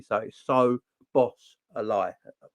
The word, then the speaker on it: Szoboszlai: uh getting Dominic's obaseline to say his name correctly so so boss a lie yeah we're we're all